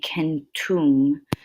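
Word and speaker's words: centum: Okay, and a lot of times they will add the ending, and it would be kentum, and it means 100.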